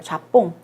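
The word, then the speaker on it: Japon: 좌뽕이라고 읽어요. 좌뽕.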